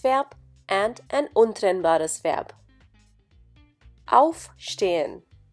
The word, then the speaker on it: aufstehen: In the case of trennbare Verben, the intonation or the stress is on the prefix. For example, aufstehen.